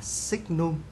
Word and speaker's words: signum: của x và được ký hiệu đó là chữ s n đọc là signum của x và được định nghĩa như sau.